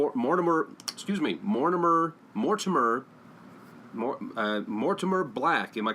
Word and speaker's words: Mortimer: excuse me Mortimer Mortimer Mortimer black am i correct am i pronouncing that right that is correct Mortimer black it's not more timer well that would be